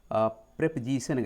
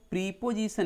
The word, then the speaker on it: preposition: तो ठीक है, इसको आप लोग प्रीपोजिशन नहीं बोलेंगे। पहली बात तो प्रोनाउंसिएशन सही करना है। प्रीपोजिशन ये प्रेपोजिशन है। ये यहाँ पे ऐसे मार्क भी आता है प्रेपोजिशन।